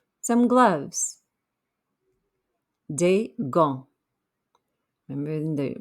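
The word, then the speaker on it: gants: sound some gloves de gong remember we don't pronounce the t or the s at the end of d all right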